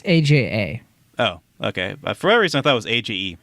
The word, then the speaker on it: Aja: thought was AG G is it Aja it's ajaa oh okay for whatever reason I thought it